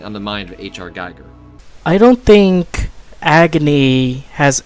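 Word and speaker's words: Giger: And by the way, it's pronounced Geiger, not Geiger.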